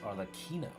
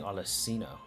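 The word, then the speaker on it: Arlecchino: defending our homeland oh her name is pronounced are the Kino for some reason I was saying alacino but I think I just missed the H because I'm a [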